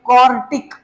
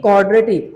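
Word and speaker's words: quartic: उसका नाम होगा भाई कॉर्टिक। आई एम not saying क्वाड्रेटिक, आई am just saying कॉर्टिक।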